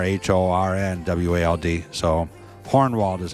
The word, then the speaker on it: Hohenwald: in Linden Tennessee is hornwalled with an R h-o-r-n-w-a-l-d so hornwald is how you pronounce it so you know hornwald Road here